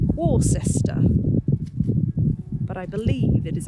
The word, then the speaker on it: Worcester: Now Worcester is spelled Worcester, but I believe it is actually pronounced Worcester.